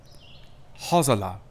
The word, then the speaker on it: Hosala: Hosala. This literally means hazel. And yes, I did pronounce that S like a Z, because that S is between two vowels, so that's how you get that Z sound.